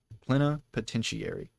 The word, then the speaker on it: plenipotentiary: Plenipotentiary. That's how you pronounce it.